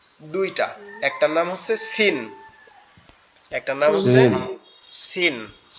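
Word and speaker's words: س: কিশিন ওকে এই যে এই যে সিন যেটা এটা একবারে সহজ উচ্চারণ আমরা যেখান থেকে ঝা উচ্চারণ করলাম এখান থেকে উচ্চারণ হবে সিন সিন জিহ্বার আগা নিচের দুই দাঁতের আগার সঙ্গে লাগবে লেগে উচ্চারিত হবে সিন সিন সিন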